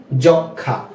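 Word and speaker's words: যক্ষ্মা: ফলা যুক্ত হয় বা যদি কোন যুক্ত ব্যঞ্জনের সাথে ম ফলা ব্যবহৃত হয় তাহলে সেই ম ফলার উচ্চারণটা হবে না যেমন যেমন সূক্ষ যক্ষা ঠিক আছে ফ্রেন্ডস আরো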